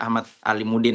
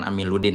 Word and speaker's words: Ahmad Alimuddin: Tadi sempat salah sebut ya, saya Ahmad Alimuddin bukan Amiluddin ya.